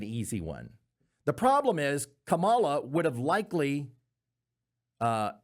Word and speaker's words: Kamala: The problem is Camala would have likely uh am I saying it wrong? Is it Kamala? I'm sorry. I'm so sorry. I'm so sorry. Uh Camala or Kamla, take your pick.